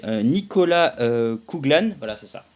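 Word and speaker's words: Nicola Coughlan: une actrice très connue pour la prononciation c'est Nicolas kuglan voilà c'est ça Nicolas kuglan qui est une une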